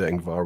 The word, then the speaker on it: Ingvar: I'm pronouncing that well, right? Ingvar is okay.